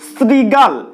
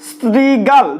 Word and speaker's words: শৃগাল: শৃগাল, এখানে দেখো রি আছে, তালব্য স রি, শৃগাল, কিন্তু আমরা উচ্চারণ করছি কি স্ত্রীগাল, স্ত্রীগাল। দেখো শৃগাল উচ্চারণ করার ক্ষেত্রে আমাদের হয়ে যাচ্ছে স্ত্রীগাল।